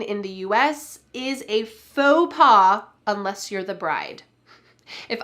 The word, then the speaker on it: faux pas: Note the pronunciation here, faux pas. We don't say folks pass. Instead, this is a French word and we're going to say it in the French style, slightly English style as well.